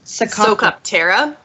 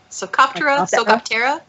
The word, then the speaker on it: Psocoptera: I think it's Socoptera. Yeah, Socoptera. I think something it's a like silent that. P.